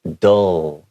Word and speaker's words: dull: And this is dull.